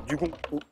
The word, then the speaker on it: dugong: En fait, je ne sais pas si on prononce ou pas le G final, mais Normalement, non. Normalement, Grégory me dit non. Dugong, avec un petit G à la fin.